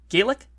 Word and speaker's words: Gaelic: Is it Gaelic? It's Gaelic when it's Irish, and it's Gallic when it's Scottish, or at least that's what I was told.